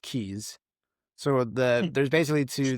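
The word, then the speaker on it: Cayes: It's spelled C A Y E, like cay, but they're pronounced keys.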